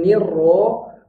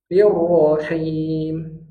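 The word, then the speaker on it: الرحيم: jangan hirro tapi hirrahman hirrahmanir nirrahim Nir jangan nirro kalau nirro berarti tasdidnya ketinggalan maka nirro nirahim lanjut Ro Ro buka rahang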